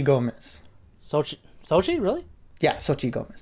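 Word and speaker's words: Xochitl: really yeah sochi gomez the x is a s essentially but what about the t and the l it's silent i guess yeah thank you now i know how to say it soji gomez she was her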